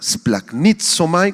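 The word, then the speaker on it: σπλαγχνίζομαι: palabra compasión por favor es la palabra griega splac nitom splac nitom con acento en la primera y que significa ser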